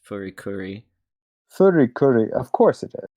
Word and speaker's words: FLCL: Yeah, here's some trivia for Foley Cooley. Despite the title spelling, the title's intended to be pronounced Furikuri.